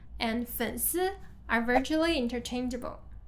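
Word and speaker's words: 粉丝: 粉丝 actually comes from the word fans. Fans, 粉丝.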